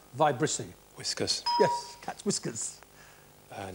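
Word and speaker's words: vibrissae: for a cat's viy spelled v i b r i s AE pronounced vicy whiskers yes cat whiskers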